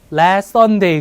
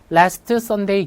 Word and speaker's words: last Sunday: Last Sunday 같은 경우는 Last Sunday 기다리고 있으면 안 돼요. 그죠? Last Sunday 이렇게 가셔야 돼요. Last Sunday T 발음 안 난 데다가 SS 똑같네.